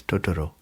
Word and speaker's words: Totoro: think I don't like we put a lot of emphasis on certain syllables and I don't think the Japanese do that so it's tooro tooro what did you